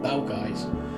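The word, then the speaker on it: Balgavies: Along the main road from Milldens is this beautiful loch, Balgavis, or as the locals pronounce it, Balgais.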